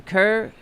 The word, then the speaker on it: Kerr: For example, there were a there the critical failure in local warning system Kerr I guess. Is that how you pronounce it? Kurr County, K E R Kurr County. Kerr Kerr, okay.